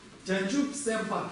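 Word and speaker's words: བྱང་ཆུབ་སེམས་དཔའ: Здесь у нас да предписная, а у нас приписная не читается, и здесь па читается. Чанчуп сэмпа.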